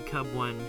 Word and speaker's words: Cubone: See, I know everyone pronounces it Cubone, but I'm pretty sure the name is actually also supposed to be like a cub because it's like the baby form.